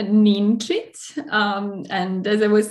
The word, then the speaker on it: Ninčić: going to tell me exactly how it has to be pronounced please yeah it's a neen treat um and as i